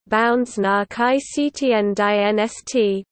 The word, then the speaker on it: Bundesnachrichtendienst: The Federal Intelligence Service German, Bundesnachrichtendienst, German pronunciation, Bundesnachrichtendienst, BND, is the Foreign Intelligence Agency of Germany, directly subordinated to the Chancellor's Office.